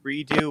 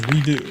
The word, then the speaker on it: redux: Cyberx says, why do you pronounce redux as redo? It's weird. Who does that? French.